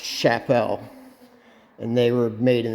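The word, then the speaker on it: Csepel: brand that was in the same Factory that's pronounced Chapelle and they were made in the same Factory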